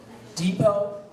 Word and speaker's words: depot: Your word has two acceptable pronunciations. Depot, depot.